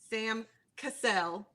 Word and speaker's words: Cassell: the coaches i looked up were ty lou sam cassell did i say it right yes yes absolutely